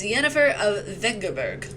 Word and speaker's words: Yennefer of Vengerberg: Wait, is that how you pronounce her name? Is it Yennefer of Vengerberg? It's Yennefer of Vengerberg.